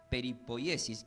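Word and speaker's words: περιποίησις: Y hemos aprendido que esta palabra del griego preservación significa, se pronuncia como peripoyesis, que significa guardar cuidadosamente algo valioso.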